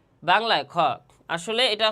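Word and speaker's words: خاء: এই গলার শেষ ভাগ শেষ ভাগ হতে এই খরফটি উচ্চারণ হয় বা তার মাকাম তথা মাখরাজ। দেখেন আমি কিভাবে উচ্চারণ করি? খ তাহলে খ এর মাখরাজ হচ্ছে গলার শেষ ভাগ তথা আদনায় হল।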